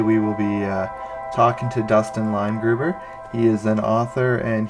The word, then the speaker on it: Dustin Leimgruber: Here we have Dustin Leimgruber. Did I pronounce your name right?